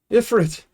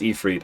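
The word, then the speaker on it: Ifrit: Master Ifit. Yes, I know it's pronounced Ephre.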